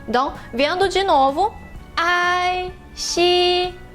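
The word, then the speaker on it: 西: A palavra oeste se escreve assim no ideograma e a sua pronúncia em mandarim é primeiro tom. Xi.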